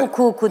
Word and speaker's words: hukuk: haldeyken bu kelimelerde mesela hukuk deriz değil mi Ama e ceza hukuku derken uzunluk ortaya çıkar aldığında tabi ünlü bir ek geldiğinde ulama yapıldığında ortaya çıkar Hukukun üstünlüğü Evet yumuşama da olmaz hukuku derken huku değil yumuşamıyor